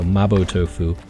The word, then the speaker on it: mapo tofu: making that but uh because she's Japanese I think they pronounce it Mao tofu there so mabo tofu so yeah it's really